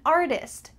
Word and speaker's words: artist: I'm an artist. I'm a tattoo artist. Here, that middle T is also changing to a D.